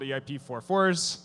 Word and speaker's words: EIP-4444: on this eip called eip44s that is the canonical pronunciation and uh yeah essentially